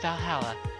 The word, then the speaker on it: VA-11 Hall-A: The name sounds silly and a bit hard to pronounce. Good thing they actually call it Valhalla.